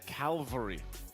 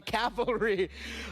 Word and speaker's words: cavalry: just was surprised because I've always said calvary instead of calvary. Oh, so you mixed up the L and the I mixed it up, but that's the first thing that comes to mind. Oh, pronouncing it correctly. All right. So, you were a proud member of the calvary. Now, now you're a proud member of the cavalry.